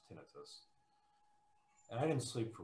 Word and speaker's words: tinnitus: in my ears which i like to call tinnitus which i think is pronounced incorrectly it's supposed to be pronounced tinnitus and i didn't sleep for weeks and when